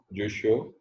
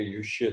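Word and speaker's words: Jussieu: Classification of system of جوشو. اور اس کے تلفظ میں گڑبڑ ہے. یہ یوشے تلفظ ہونا چاہیے اس کا پراپر.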